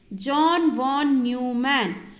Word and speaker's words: John von Neumann: Okay, so how you have to pronounce this? John von Neumann.